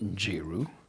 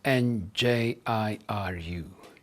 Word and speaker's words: Njiru: My name is Njiru. I spell it as N-J-I-R-U, Njiru.